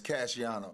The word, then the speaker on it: Cashiano: It's Cashiano.